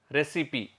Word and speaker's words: recipe: R-E-C-I-P-E, recipe. Even though it is RECIPE, it is pronounced as recipe.